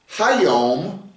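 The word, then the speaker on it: היום: And if you want to say this day in Hebrew, you put a hey in front of the word hyom is today.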